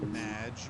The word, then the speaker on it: Madge: It's Madge, which Madge. rhymes with badge.